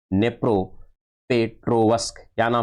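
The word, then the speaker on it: Дніпропетровськ: है उसका नाम है नेप्रो पेट्रोवस्की नेप्रो पेट्रो वस्क यहां पर ये देखिए यहां पर डी है ए लेकिन डी क्या है साइलेंट है लेकिन नाम यही है यहां पर यह नी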